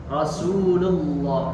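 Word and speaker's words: رَسُولُ اللّٰهِ: Rasulullah. Nah, di situ tidak boleh Rasulullah, lullah. Jadi lu dibalikkan Rasulullah, ya, lullah dibalikkan. Intinya pengucapan ketika tebal tidak boleh memonyongkan bibir.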